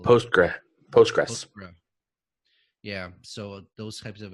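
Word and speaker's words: PostgreSQL: mysql host great I never know how to pronounce it post bracele post-grad Postgres yeah so those types of environments within a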